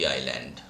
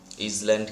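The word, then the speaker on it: island: ডিসমাল শব্দের অর্থ হচ্ছে নির্জন, লোনলি আইল্যান্ড। ইসল্যান্ড কেউ উচ্চারণ করবে না, ভুল করেও, এটা আইল্যান্ড বলা হয়, দ্বীপ।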